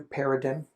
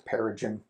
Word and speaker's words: paradigm: of Andromeda self-discipline new paradigm is that the right way to pronounce it para Jim paradigm well they put that little G in there it's peregym anyway um Andromeda parallel